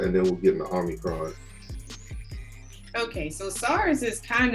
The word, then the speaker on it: Omicron: So I'm glad I got you here because, you know, Omicron has been like on the news. It's everywhere. You said it wrong. You have to say it Omicron. Like ominous.